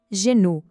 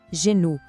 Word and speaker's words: genou: A pronúncia é le genou. O som do G é aquele mesmo J suave que a gente viu em jambe. E o O tem o som de U. Vamos lá. Le genou.